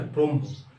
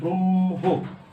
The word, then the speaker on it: ব্রহ্ম: কেননা দেখো এখানে উচ্চারণটা ব্রহ্ম, মটা আগে চলে আসতেছে, কিন্তু তা হবে না।